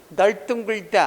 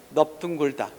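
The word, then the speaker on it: 넓둥글다: 이 경우를 원칙을 적용해서 리을을 선택하게 되면 널뚱글다 한번 발음해봐. 다 같이. 널뚱글다 해봐. 시작. 널뚱굴다. 어때요? 어색하고 발음이 좀 정확하지 못하죠? 그래서 그런 것을 대비하기 위해서 비읍을 선택해. 한번 발음해 볼까? 다 같이 넙뚱굴다. 되죠? 좀 더 확연하게 들리지? 그래서 비읍을 선택한다라고 할 수 있습니다.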